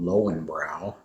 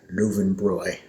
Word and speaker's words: Löwenbräu: And of course there's another beer that's Americans don't pronounce correctly, called Lowenbrau, but in German they would say Löwenbräu. The W's are pronounced as V's.